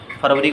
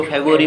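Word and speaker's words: February: जैसे जनवरी को जनवरी नहीं बोलते, प्रोनाउंसिएशन में जनवरी को जनवरी बोलते हैं, फरवरी को फेब्रुअरी बोलते हैं, मार्च को मार्च ही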